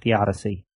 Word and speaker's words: theodicy: You always pronounce it theodicy.